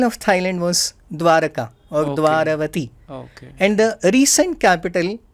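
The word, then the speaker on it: Dvaravati: North Thailand, is Mon Dwalavati. Okay. They don't pronounce Ra, so they say La.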